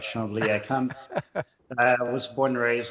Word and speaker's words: Chambly: By the way, I'm impressed by your pronunciation, Echo. You got it right. Chambly.